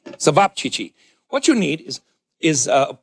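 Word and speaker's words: ćevapčići: Sabapchichi. Sabapchichi.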